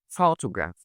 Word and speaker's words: photograph: like when I say photograph photograph and you find that a lot of people like saying something like photograph and stressing like all the hurt the word is photograph starts in the first syllable.